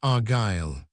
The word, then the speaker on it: Argyle: or region of Gaul which means sons of God and is pronounced Argyle.